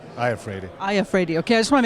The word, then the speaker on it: Iafrate: Okay, A lot of people say Al Alfredi, but it's Iafrate.